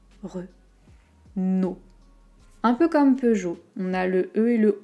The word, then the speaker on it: Peugeot: pas 2e aux quelque chose d'un peu jo peugeot peugeot ma voiture est une peugeot c'est vrai